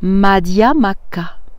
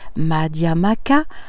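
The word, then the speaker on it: Madhyamaka: conférence sur la physique quantique et la philosophie madiama cas alors je fais une parenthèse madiama cas ça s'écrit m à d h y a m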